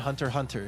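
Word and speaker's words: Hunter×Hunter: The X is silent. Just like Hunter Hunter. Hunter Times Hunter.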